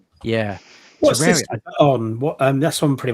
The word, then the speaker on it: Terraria: Terri Terraria. Terraria. Terraria. Terraria. Like a terrarium.